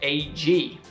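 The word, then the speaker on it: UGG: Australian shoe brand uh its name is pronounced AG while it is widely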